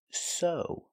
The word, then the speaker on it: sew: is O that's right this word is pronounced so the ew makes the long o sound like no and grow so so is a